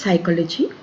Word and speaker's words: psychology: First word is psychology, P is silent here.